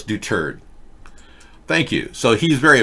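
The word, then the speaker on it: Duterte: okay thank you because I've been saying doTERRA che and I've been mispronouncing his name Doug do turd you know yeah so it's do turd thank you so he's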